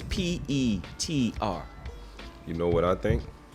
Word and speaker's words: Petr: It's supposed it would think like it's Peter, but it's Petr.